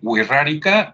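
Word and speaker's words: Wixárika: entonces dicen Sabes qué Dime huirrárica o huirritari que por cierto se escribe bien raro no Claro ve tú a saber en los orígenes Cómo se escribía pero actualmente empieza con w como si fuera Washington luego y de Wii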